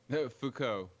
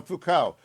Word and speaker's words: Foucault: a million times how do you say it foucault you said it right okay i i'm terrible with french so foucault i didn't know much about him except his